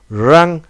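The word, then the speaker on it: wring: work work রিং মোছরানো রাং রাং এখানে কিন্তু উচ্চারণটা হবে রিং রং রাং রাইট মানে লেখা রোট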